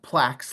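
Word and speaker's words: PLACS: all right so the Plax concept and it's pronounced plaqu like plaques on the wall um and the reason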